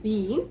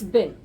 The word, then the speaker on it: been: Yes, do not pronounce it like been, it's been, as in dustbin.